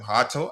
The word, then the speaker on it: Hato: His name is pronounced Jorrel, first name, and last name Hato. I think we did talk about that the other day, and staff explained, yeah, because it is Dutch. The J sounds differently.